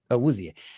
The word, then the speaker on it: Awuzie: How do you pronounce it? Awuzie. And now to see that the defense was the X factor in this game. How did he play, by the way, Joe? How did Awuzie play, in your opinion?